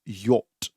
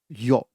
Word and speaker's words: yacht: want you to pay extra attention on the pronunciation of this word this is not yet but this is yacht yacht okay just like just like why ot yacht